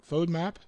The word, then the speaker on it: FODMAP: up on her no okay Wow so it's pronounced phone MOT fodmap yes fun map so now okay on map solution alright and